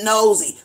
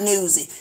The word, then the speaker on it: nosy: It's called nosy. Putting your nose in somebody's business and you being nosy, not newsy. It's another word you pronounce wrong too.